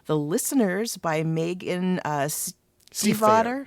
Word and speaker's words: Stiefvater: yet, and it's called The Listeners by Megan Stiefvater. Stiefvater. Okay. We had to actually listen to a video to get the pronunciation kind of right.